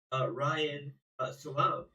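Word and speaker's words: Ryan Salame: So if you look at who was the initial whistleblower of former co-CEO Ryan Salam, is how you pronounce it.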